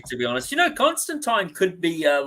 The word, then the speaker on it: Constantine: said to rhyme with wine so there you go it's constant time Neil Gaiman let's see what did I mean not that Neil Gaiman is the favorite person right now in the comics he pronounced in Constantine and people who pronounced in Constantine either did it through ignorance or to tease him like mad Hattie around